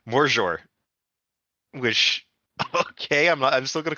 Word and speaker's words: Magyar: Because the main language of Hungary is it's not pronounced Magyar. It's apparently pronounced Morzsor, which okay, I'm still gonna call it Magyar because it's just easier to say.